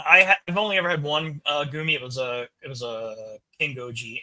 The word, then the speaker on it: Gumi: Is it Gumi or Gummy? I always say Gumi because that's how with I in the Japanese is pronounced.